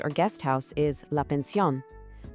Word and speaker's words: pensión: An inn is la posada, and a bed and breakfast or guest house is la pensión. Pay attention to the accent on the O in pensión when you say it.